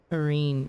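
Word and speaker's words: Ryne: It rhymes with green, right? It explains a lot of my deaths. Irene, yeah, okay.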